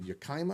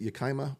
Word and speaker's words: Yakima: You live in Yakima. Is that how I pronounce it? Yakima, Washington.